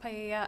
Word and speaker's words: paella: be used to cook paella. I'm not sure if that's how you pronounce it at the party. It's pronounced paella.